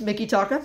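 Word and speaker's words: Mikitaka: five ah okay what about Mickey taka it's Mickey taka oh I was close OH Close oh wait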